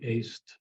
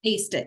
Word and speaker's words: ACE IT: And then, and two, if I'm pronouncing or spelling it right, too, the ACE IT, is it AC? Like I aced the course? Aced it, yes, exactly. ACED IT.